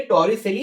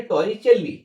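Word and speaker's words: Torricelli: এবং এই যে আমাদের পদার্থবিজ্ঞানী, ইতালির পদার্থবিজ্ঞানী টরিসেলি, বা তোমাদের বইয়ে বানানটা রয়েছে যেটা, সেটা হচ্ছে টরিচেল্লি, টরিচেল্লি।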